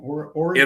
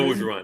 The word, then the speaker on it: Orgeron: Origin? Ed Orgeron.